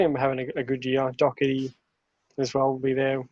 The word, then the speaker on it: Doherty: Doherty as well will be there with them, so you know, helping the defense. But yeah, I think Harry Kane good Doherty. year. Yeah, what's Sam his name? Doherty?